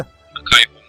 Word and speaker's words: Akai Hon: Que eram, o Fernando pode me ajudar na pronúncia, o Akai Hon, é assim que se pronuncia? Akai Hon, isso.